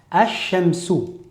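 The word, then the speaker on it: الشمس: La lettre lunaire nous indique que le lem de alif lem va être prononcé. Par exemple, dans el baytu, el qamaru, je vais à chaque fois prononcer le lem. Par contre, il y a d'autres mots dans la langue arabe où le lem ne se prononcera pas.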